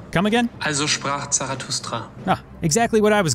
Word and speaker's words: Also sprach Zarathustra: Now I never know how to pronounce this song title, so let's get an assist from Wikipedia. Also sprach Zarathustra. Come again? Also sprach Zarathustra.